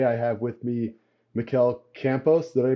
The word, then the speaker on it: Campos: the show today I have with me Mel Campos did I pronounce that right yeah perfectly okay perfect um